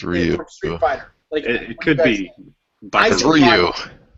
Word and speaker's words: Ryu: hold on hold on rayu or Ryu it's Ryu figh it could be Ru it's Ryu we're gonna say Ryu